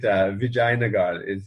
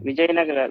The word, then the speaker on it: Vijayanagara: I was pronouncing it Vijayanagar, but it's yeah. is it not? Vijayanagara Empire. Yeah, Okay. Vijayanagara.